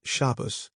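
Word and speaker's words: Shabbos: An example is shabus, sabbath, with the accent on the first syllable.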